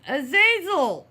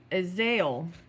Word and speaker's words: Azazel: Azazel! Whatever. Actually pronounced Azael. Apparently the second Z is silent.